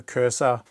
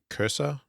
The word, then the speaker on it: PreQursor: I mean she me it's pronounced cursor not coy huh but I could be wrong there who knows umm